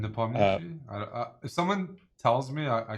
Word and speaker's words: Nepomniachtchi: Nepomniachtchi.